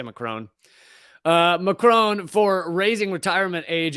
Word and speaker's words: Macron: If you want to pronounce it, the French way, it's Macron, but I'm going to say Macron.